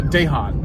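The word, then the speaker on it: Dahon: it'll probably be a dehaan a dehaan or i think i think it's pronounced uh daehan it's called pronounced daejon for david han who founded the company back in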